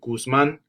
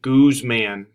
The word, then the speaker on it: Guzman: when I was younger, everyone always called me Goose Man because they couldn't pronounce it's Guzman, but everyone would always say Goose Man because they wouldn't pronounce it right.